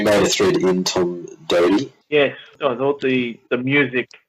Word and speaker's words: Doedee: Tom Doedee, as it's pronounced, played his first game. Isn't it Doty? It's Doedee. I'm sticking with Doty. I saw you made a thread in Tom Doedee.